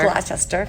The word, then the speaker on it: Gloucester: Gloucester, which is spelled Gloucester. Gloucester.